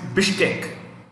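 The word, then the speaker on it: Bishkek: Capital बिश्केक, बिश्केक, B-I-S-H-K-E-K, बिश्केक। Next president is सूरनबे Jeenbekov, ठीक है, मैं प्रोनाउंस करता हूं, मैं स्पेल करता हूं, SOORONBAY,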